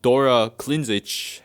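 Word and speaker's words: Dora Klindžić: And Dora Klinzic, that's how they say it, also a key writer on Disco Elysium.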